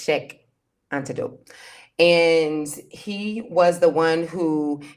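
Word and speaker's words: Cheikh Anta Diop: thing that I knew about Senegal was that Shanta Atadop, if I can say his name right, Jope. Okay, yeah. I want to make sure I don't butcher his name either. It's Sheikh Antidote.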